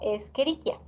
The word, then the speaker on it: Escherichia: pero nosotros la la palabra del género lo pronunciamos como escherichia un primer caso e se suele ver también